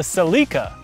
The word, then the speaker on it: Celica: coupe hey the new celicas are talking to town isn't this off-road legends you're not wrong but the rest of the world pronounces the toyota celica the seleka and for every country